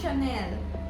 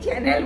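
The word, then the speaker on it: Chanel: পাখিটা এটা হচ্ছে সনেল। সানেল সানেল বলল। আমি বাঙালি। আমি চ্যানেল বলছি। তুই সানেল বলছিস। না আগে তো উচ্চারণটা তো এইটা।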